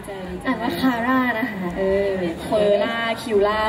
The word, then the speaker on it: QRRA: ดี ใจ ดี ใจ ดี ใจ อ่าน ว่า คาร่า นะ คะ เออ เฟล่า คิวล่า ไม่ มี นะ